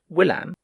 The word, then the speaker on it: William: Finally, he defeated the unlucky Charles with the aid of William, which the curé pronounced Willam, the Conqueror, which is why so many English still come to visit the place.